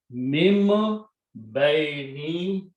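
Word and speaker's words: مِن بَيْنِ: Harf-e-jar will change baino to baini. Mim be, or any pronounce mim, not min anymore, because this ba sound will change this noon sound to mim.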